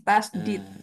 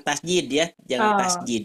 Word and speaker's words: tasydid: alis bertemu tasjididdid oh tasdid tasdid tasdid tasdid tasdid nah gitu ya berisi t kalau t Nah kalau latinhnya gini tasdid tasdid he tasdid pengucapannya harus betul ya Ustaz ya jangan tasjid e tasidid artinya apa